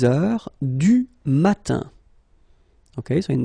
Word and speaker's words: heure: Il est 6 heures. All right, so heure, you write it like that. Remember, H is not pronounced, okay?